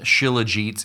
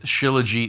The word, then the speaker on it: Shilajit: That's really the question we're going to answer today on an ancient miracle resin called chiliget. It's spelled ch C or sorry, S H I L A G E T.